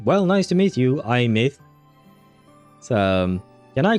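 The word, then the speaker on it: Aemeath: Oh, she pronounces it. Like an I like the the the thing I have right there and myth like a mythbusters or something like that. Huh? I Myth.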